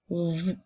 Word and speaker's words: vous: nous sommes à l'école le dernier mot est le mot vous alors nous avons le son qui s'écrit avec la lettre V et comme dans le mot nous avons encore le son ou avec trois lettres qui s'écrit o u s encore une fois la lettre S est une lettre muette on peut utiliser le